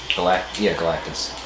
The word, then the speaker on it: Galactus: Galactus.